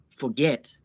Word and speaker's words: forget: Notice how the last syllable is stressed. Forget. Get is stressed.